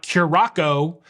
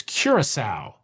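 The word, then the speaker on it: Curaçao: Of course, it's a ship, not a boat, and it's not Curacao, even though it's spelled like that. It's Curacao.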